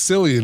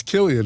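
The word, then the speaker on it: Cillian: And I said, "It's not pronounced Silian. It's Killian."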